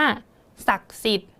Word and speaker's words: ศักดิ์สิทธิ์: คำ ว่า ศักดิ์สิทธิ์ ศักดิ์สิทธิ์ เรา ก็ จะ ไม่ อ่าน ออก เสียง อะไร คะ อัน นี้ จะ เยอะ นิด นึง ก็ คือ ด เด็ก กับ สระ อิ ก็ จะ ไม่ อ่าน ออก เสียง ออก มา นะ คะ เพราะ ว่า ธนาคาร